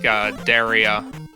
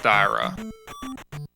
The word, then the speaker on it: Daira: But I would typically pronounce that with an I sound. It might be Daira though. It is Daira. Okay. Chat is confirming that it is pronounced Daira.